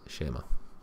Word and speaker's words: Shema: And then it says, "And Adonia said unto Moses, she if you don't know, Shema is basically how we pronounce the name of God." Y HW for us is pronounced as Shemma.